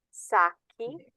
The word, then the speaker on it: sacchi: So if they end in CO or GO, your K sound has to get an H in the plural in order to maintain that pronunciation.